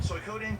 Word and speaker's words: Suikoden: It's Suikoden. Yeah, Suikoden. It's Suikoden. That's how you say it.